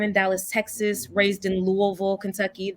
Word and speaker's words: Louisville: So a little bit about me, born in Dallas, Texas, raised in Louisville, Kentucky. That's how you know I'm from there, because I say it like my mouth is full.